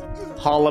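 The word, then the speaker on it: challah: sioban sioban okay and she would pronounce hola bread Chala bread yeah and I wanted to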